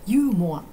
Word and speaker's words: ユーモア: ユーモアいうもはユーモアは英語と同じですが発音が全然違う日本人だとユーモアユーモアと言います面白いことですね